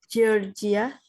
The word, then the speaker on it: Georgia: work at 9 a Georgia karena J itu kan bacanya j g itu dibaca J Georgia I Georgia they do